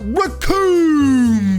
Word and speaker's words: Recoome: I gotta know, what are you thinking about Recoome Boom? Rhymes with Doom.